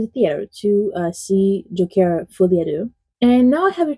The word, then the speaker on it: Folie à deux: I'm French, so I can pronounce it correctly. I bet that's the first time you heard that correctly.